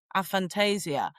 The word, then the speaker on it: aphantasia: And Julia, you telling us about, I want to say it properly, aphantasia.